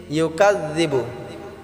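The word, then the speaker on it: يُكَذِّبُ: ইউকাযযিবু বিদ্দিন, ইউকাযযিবু, এই কাযযিবুটা আমরা জালটাকে আমরা পাতলা করে উচ্চারণ করব।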